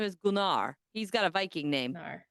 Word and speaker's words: Gunnar: My dog's name is Gunar. He's got a Viking namear. Oh, that's awesome. Yeah, that is really cool. But it's spelled and people think it's gunner because it's g n a r. Gunnar gard.